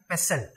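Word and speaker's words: PESTLE: एस टी एल ई U need to pronounce it like पेसल पे स ल द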